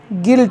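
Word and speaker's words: guilt: you silent रहता है जैसे कि जी यू आई एल टी जिसको हम गिल्ट पढ़ते हैं क्या पढ़ते हैं गिल्ट जिसका मतलब अपराध जी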